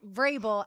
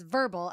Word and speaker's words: Vrabel: the NFL honors, and she pronounced Vrabel as verbal, as in it rhymes with gerbil.